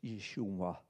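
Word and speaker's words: ישוע: Yud Shin Wa Ayin. You can almost hear Yeshua.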